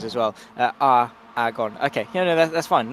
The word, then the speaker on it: Aragon: He's also corrected my pronunciations as well. Aragon. Okay, no, that's fine. Not Aragon, because I'm special.